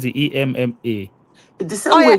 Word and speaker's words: Emma: If it's a male, you say Ima.